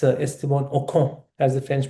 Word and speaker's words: Ocon: It's for me, it's Esteban Ocon, as the French pronounce him. No, I've screwed up the pronunciation. I can never speak in French. I need to sing the language to understand it. Ocon.